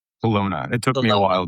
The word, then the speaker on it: Kelowna: Kelowna.